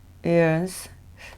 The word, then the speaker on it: yearn: 연스. 이게 Y가 발음이 됩니다. 우리가 이어할 때는 Y가 묵음이 되잖아요. 그래서 이어 이렇게 귀 이어랑 발음이 똑같은데 이거는 이언, 발음교로 이런 거 이언 이렇게 발음이 됩니다.